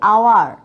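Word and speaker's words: hour: তাহলে I shall come back dash, এখানে ওয়ের উচ্চারণটা কি আওয়ার, আওয়ার বলতে আয়ের মতো আসতেছে, তাই না?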